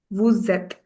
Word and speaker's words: vous êtes: When S merges with the sound, when S merges with the vowel, the sound it produces is that of Z. Vous êtes.